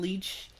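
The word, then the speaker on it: Leitch: by David is it is it leash lights as you pronounce it I'm saying liche le i TCH he directed Deadpool to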